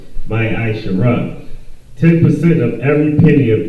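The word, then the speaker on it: מעשר: Means tenth in the Hebrew, and is pronounced my Aisha.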